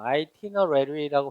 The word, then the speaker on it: itinerary: itinerary라고 발음을 하고 이건 여행 일정표라는 뜻입니다.